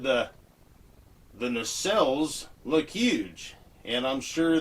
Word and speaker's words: nacelle: This is the cowling around the engine, or it is the necklaces. It's pronounced nacelle, and that is a streamlined housing or tank for something on the outside of an aircraft or motor vehicle.